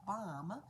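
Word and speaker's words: bam: for starting this out the first sound is b-a-m which is pronounced bomb and so we do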